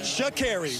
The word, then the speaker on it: Sha'Carri: Sha'Carri. Sha'Carri. We got it. Okay. She has said in the past, if you don't pronounce my name right, I'll ensure you will.